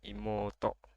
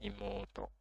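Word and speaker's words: いもうと: ok bedanya imuto imoto Jadi maunya panjang ini ada hugely imuto dibacanya panjang imuto adik perempuan lawan kata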